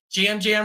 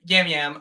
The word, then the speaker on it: Yam Yam: brother person and it was like jam Jam was sitting across from me or yam yam um jam Jam right no I think it's Jam Jam yeah I don't know it's Jam Jam uh it's spelled with a y That's why I um